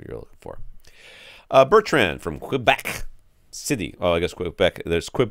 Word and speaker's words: Quebec: And I'm saying it wrong because I'm saying qua, right? I mean, qua is the how you would say it in like the military alphabet. They pronounce it Quebec for the letter Q.